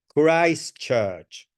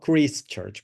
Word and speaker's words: Christ Church: very much remember pration is Christ Church not Christ Church because Christ is is not the name is Christ Christ is Jesus Christ okay it's um you